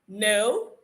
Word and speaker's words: know: Whenever you see K before the N, know that the K will be silent.